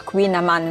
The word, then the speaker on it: kouign-amann: Avevamo preso un dolce tipico qua di San Malo che si pronuncia Queen Amman, non chiedetemi come si scrive.